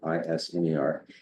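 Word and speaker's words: Isermann: And the one we selected was Jim Iserman, is the way he pronounces it, Isner.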